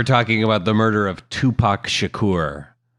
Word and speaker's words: Tupac: But today we're talking about the murder of Tupac Shakur. Big one. I hope I'm saying that right, Greg. I I think you are. Did you pronounce it as the number two?